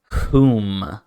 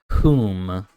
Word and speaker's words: whom: it the word is whom whom so it's like who with an M at the end whom this next word might